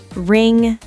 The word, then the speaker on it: ring: A lot of learners want to pronounce the G separately, like sin-ga, but it's actually one blended sound. So it's not sin-ga, it's just sing with a nasal sound at the end.